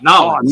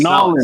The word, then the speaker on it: New Orleans: Get it right, Nolens. Nolens. Say it right.